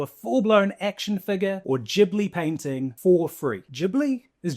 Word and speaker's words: Ghibli: a selfie into a full-blown action figure or jibli painting for free.